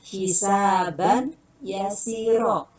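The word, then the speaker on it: حسابا يسيرا: Asal katanya hisaban yasiro. Karena ini hukumnya idgham tanwin bertemu dengan ya, maka dilebur suara tanwinnya menjadi suara huruf idgham yang ya. Bacanya hisabai yasiro.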